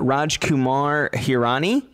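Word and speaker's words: Rajkumar Hirani: by um and please correct me if i'm mispronouncing this uh raj kumar hirani you got it right and also thank you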